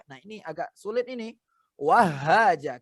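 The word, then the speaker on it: وهاجا: Karena tasdid itu harus dimasukkan. Dimasukkan ini ke ayat yang selanjutnya. Berarti didobelkan, didobelkan bacanya. Wahaja, jangan wahaja, tapi wahaja. Iya, Rabbil Allah. Apalagi habba. Ya, jadi wahaja, haknya double.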